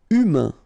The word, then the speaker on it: humain: Humain, remember, H is not pronounced, A-I-N, un, humain.